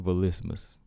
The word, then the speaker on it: Vlismas: ballistas got you cheyenne volismus all right gotta get used to that used to calling her cheyenne byes or beys i mean we we pronouncing that wrong cheyenne base so cheyenne velismus all right got that